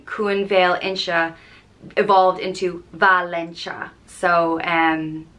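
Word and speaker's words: Valentia: points of Ireland and it's spelled v-a-l-e-n-t-i-a and it's pronounced Valencia and there's a common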